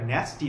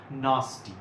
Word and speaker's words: nasty: এবার এটার উচ্চারণ অনেকের কাছে জানা আছে ন্যাস্টি, আমি একটু শুধরে দিয়ে বলি, এটা ন্যাস্টি নয়, এটা নাস্টি।